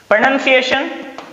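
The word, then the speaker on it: pronunciation: जब भी लास्ट में TION आए तो शन पढ़ेंगे, न कि सन पढ़ेंगे। सन नहीं पढ़ेंगे, शन पढ़ेंगे।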